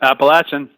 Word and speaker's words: Appalachian: about the program at Appalachian State, assuming I pronounced that correctly. Yeah. Yep. Appalachian, App State.